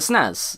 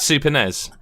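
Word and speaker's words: SNES: System so yep it's the same with the snows it's the Super Nintendo Entertainment System so you can't tell someone how to pronounce snow and ice but ten points because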